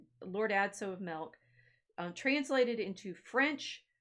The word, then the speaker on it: Adso: It's like, Adso is a real name, although everybody will tell you that it also rhymes with Watson, right?